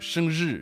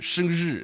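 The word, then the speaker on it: 生日: So it's like be like 生日, 生日. It's almost like the ZH pronunciation.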